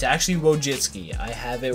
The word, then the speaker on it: Wojcicki: can just type it how to say wojinski and it will tell you Susan wojitski Susan wojitski and you can go slow Susan wojitski whoa jet ski so we finally know